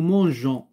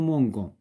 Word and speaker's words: mangeons: Nous mangeons. Hnadrnad le E pour ne pas dire nous mangons.